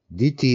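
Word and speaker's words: dhiti: Diti is another word for courage, and it's D-H-I-T-I. It's not the same as Diti, which is almost the same pronunciation, spelled differently, which means a view.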